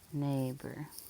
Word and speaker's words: neighbor: like our keyword a usually followed by t but here it is not we have e i g h all making one sound that long a sound consonant and or is